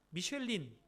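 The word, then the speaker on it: Michelin: 그런 평가 잡지라고 합니다이 미슐랭 가이드를 발간하는 회사가 영어 발음으로 하면은 미쉐린 타이어 회사입니다 타이어 회사가 어떻게 이렇게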